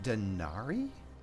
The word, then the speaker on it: denarii: It's pronounced denari? But it's a denarius. Denarius? Oh no, you're just pronouncing it with an English accent.